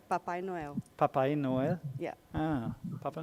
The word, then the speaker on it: Papai Noel: How do you say Santa Claus in Portuguese? Papai Noel. Papa Noel? Papai Noel.